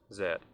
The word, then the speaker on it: Z: However, in most other English-speaking countries, including the United Kingdom, Canada, Australia, and New Zealand, the letter Z is pronounced zed.